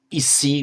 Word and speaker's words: Isi: For example, as we've just seen, how Rishi in Sanskrit becomes Isi, which we transliterate as ISI.